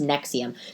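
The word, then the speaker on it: NXIVM: how you spell it nvx IIM and it's pronounced Nexium so the it's about the sex cult basically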